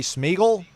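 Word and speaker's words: Smigiel: of Newberry Park California Brady smeel I say it right yeah like Lord of the Rings okay nice um he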